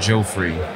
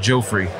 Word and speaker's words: Geoffrey: and I was like Joe free really close what's that I said it's pronounced like Joffrey yeah it's photocopier uh